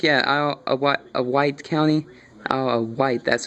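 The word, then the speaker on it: Isle of Wight: Windsor I think yeah a a white County a white that's how you pronounce it 8 Ines near Smithfield 5.6 in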